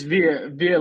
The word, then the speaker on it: Viet: It's Viet like Vietnam.